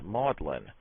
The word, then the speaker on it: Magdalene: in the United States in England the word is pronounced modlin whence modlin adjective unpleasantly